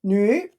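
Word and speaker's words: 女: And the pronunciation is nu, third tone.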